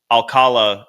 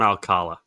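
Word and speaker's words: Alcalá: Let's do an hour on Alcala. It looks they the accent is on the last A.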